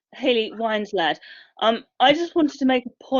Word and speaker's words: Hayley Winslade: But first, the next question is by Hayley Winslade, if I have pronounced the name correctly. Hello, yes, it's Hayley Winslade.